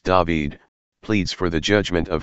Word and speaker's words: David: Gospel of Luke in this Psalm King David pronounced David pleads for the Judgment of his father God